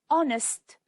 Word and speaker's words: honest: The B is silent and honest, the H is silent.